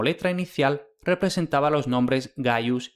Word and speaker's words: Gaius: El símbolo conservó su antiguo valor solo cuando, como letra inicial representaba los nombres Gaius y Gnaus, que en consecuencia a menudo se escriben y se pronuncian erróneamente Kayo y Kneo.